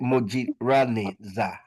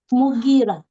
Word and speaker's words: Mugira: Is it Mojirani Za? Am I saying it right? Not really. Mugi, right? Yeah. Or Muji? Mugira. Mugira. Amazing.